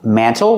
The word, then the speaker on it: mantle: Mantle. You can pronounce it mantle with a T, or you can make the T silent and say mantle.